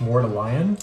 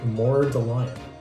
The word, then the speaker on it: Mordalion: smell like mallion or someone pointed out that I guess it's pronounced mallion let me see instead of mallion more the lion I don't know about